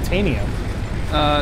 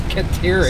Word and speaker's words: Caterium: Continually mispronouncing Caterium. I wasn't saying deuterium at all. Caterium. I said Serotanium. There is no Serotanium. It's Caterium.